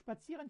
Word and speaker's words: spazieren: ته ځو wir gehen ins Kino wir gehen spazieren مونږ قدم وهلو ته ځو spazieren چې ته وایي قدم وهلو ته spazieren ګوره